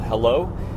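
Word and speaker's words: Heilo: I wanted to close this out by introducing you guys to a new app coming out called Hello. It is spelled H-E-I-L-O.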